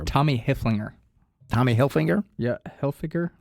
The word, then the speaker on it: Hilfiger: hinger Tommy hinger yeah Hilfiger H I don't know how you say it but I think it's Hilfiger yeah it's not hell finger yeah it's h i